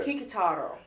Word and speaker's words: Kikutaro: You pronounced it for me earlier. Kikutaro.